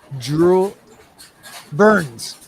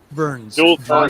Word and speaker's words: Jules Verne: It was like reading James Earl Jones, no, Jewel, I can't pronounce it. Jewel Burns. Jules Verne.